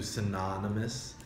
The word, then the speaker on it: synonymous: When you change it to an adjective form, like I said, the pronunciation changes the O to synonymous.